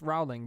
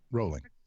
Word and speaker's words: Rowling: Her name is not pronounced Rowling, but everyone in the U.S. says Rowling. Rolling.